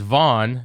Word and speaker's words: Vaughn: I'll change my middle name is Vaughn. Right. Spelled like Mo Vaughn.